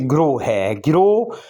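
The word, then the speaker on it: grow: इसी तरीके से ग्रो जी के नीचे हल्की सी ज़ेर की आवाज़ आप पैदा करेंगे, ग्रो।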